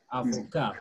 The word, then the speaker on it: avocat: Avocat plus letter S, it will still be pronounced the same as avocat.